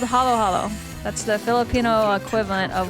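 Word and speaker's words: halo-halo: It's like patbingsu for Koreans, which I also don't know if I'm pronouncing it correctly. But it's called halo halo.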